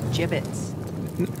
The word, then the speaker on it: gibbets: out of here hey look Avery had some gibbets left over jbits what it's pronounced jbits are you sure yeah well no one likes